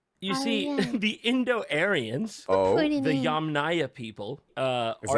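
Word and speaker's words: Yamnaya: It's pronounced Arian Persian. You see the Indo-Aryanss, the Yam Naya people.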